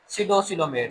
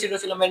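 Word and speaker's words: pseudocoelomate: जिनको बोलते हैं सिडोसिलोमेट। सिडो सिलोमेट। यहां पी साइलेंट है। पीस सिडोसिलोमेट नहीं पढ़ना। पी साइलेंट है। सिडोसिलोमेट पढ़ेंगे।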